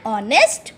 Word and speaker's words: honest: H is silent there.